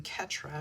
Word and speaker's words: Ketra: Him and his wife Petra, rhymes with my name, Ketra.